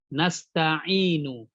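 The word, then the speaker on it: نستعين: Contohnya nasta'inu. Iyyaka na'budu wa iyyaka nasta'inu. Kan aslinya seperti itu ya, ada harokat. Tapi kita bacanya nasta'in. Nah, dia seperti disukunkan. Ya.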